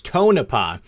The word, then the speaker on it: Tonopah: And here's the thing, and I just want to say the audience has corrected me. It's Tonopah. Obviously, I've never been there, so I don't know how to pronounce it.